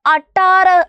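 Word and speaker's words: अठारह: അട്ടാറ് എന്നാണ് ഇത് വായിക്കുന്നത് അട്ടു കൊടുത്തു ട ഇട്ടു കൊടുത്തു ആ എന്ന് പറയുന്ന നമ്മുടെ ചിഹ്നം ഇട്ടു കൊടുത്തു ര ഹ അല്ലേ 16 18 ന് നമ്മൾ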